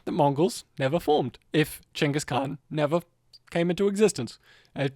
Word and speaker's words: Genghis Khan: Genghis Khan. That's his actual pronunciation of his name.